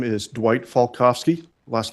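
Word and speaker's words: Falkofske: for the court reporter my name is Dwight falkovski last name is spelled f-a-l-k-o-f-s-k-e Mr falkovsky who do you work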